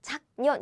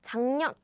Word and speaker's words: 작년: It's not 작년, it's 작년. That's how you pronounce it.